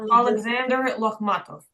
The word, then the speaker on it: Alexander Lokhmatov: It's pronounced Alexander Lokhmatov. Alexander Lokhmatov. You got it.